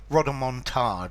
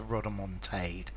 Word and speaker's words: rodomontade: see if it was if it came from the French I would be very happy with rodder montard as opposed to rodder Montage um but I think probably both pronunciations are valid uh it comes from